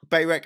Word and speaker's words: Barack: Anyway, he's Barack Obama. It's his name. Barack Obama. No, Barack Obama.